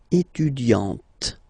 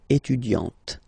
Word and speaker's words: étudiante: Okay, but then for the feminine form, elle est étudiante. Okay, t. Okay, you don't really insist on the e, but you insist quite much on the t. Elle est étudiante.